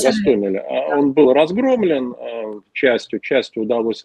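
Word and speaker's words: Гостомеле: напряженная, особенно после того, как десант вот в Гастомеле, правильно ударение ставлю? Да, в Гастомеле.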